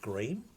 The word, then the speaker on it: Greim: we are talking about house Grime or as they like to pronounce it gream and to a lesser